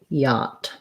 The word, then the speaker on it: yacht: have extra sounds so the ch sounds are silent we just use a t and the ah yah is a clear ah vowel so ipa yacht for syllable stress thinking of